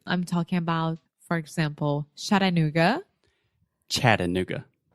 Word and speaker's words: Chattanooga: a city in Tennessee the first sound the CH is a CH just like in exactly yeah Chattanooga which I really want